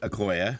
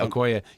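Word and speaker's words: Okoye: the thing looking at this like you've got okoy is that how you say it akoya yeah okoya you've got her they don't ever do anything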